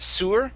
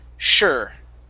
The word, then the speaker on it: sure: okay very good and the last one here is sure instead of sewer it's sure sure okay very good thank